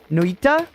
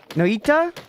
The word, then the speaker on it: Noita: at this point that the name of the game is pronounced more like, I'll butcher it a little bit, but it's more like Noita? Noita? Something like that.